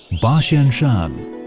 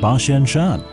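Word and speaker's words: 八仙山: about 8,000 Japanese fet the pronunciation of 8,000 in Japanese hen is similar to bashen in Mandarin Shan is Mandarin for Mountain hence the name Bashan Shan in the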